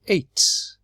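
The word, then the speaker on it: ate: just with the e this is at but when we put the e on the a changes to a and the word is 8 that's 8 let's look at the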